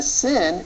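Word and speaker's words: שׂ: on the right okay the sin is pronounced as a simple s the the shin is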